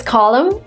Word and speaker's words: column: The next word is column. This is where you don't pronounce the N at the end of this word.